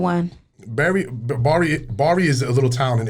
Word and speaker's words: Bari: So everybody says it wrong. Yeah, they say berries. Oh, But it's Bari. okay. So I've been saying it wrong. I mean, I could Bari? be Yeah. Bari. Yeah, Bari, Italy. So it's B-A-R-I.